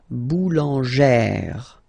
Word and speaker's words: boulangère: Remember, when you've got this E plus this accent grave, you pronounce it like E, really open E sound, okay? So boulanger, boulanger, and then feminine form, boulangère, boulangère.